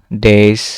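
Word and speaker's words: die: দেয়ার থাক আর এটা তো ডাই হবে না। এটা হবে ডি।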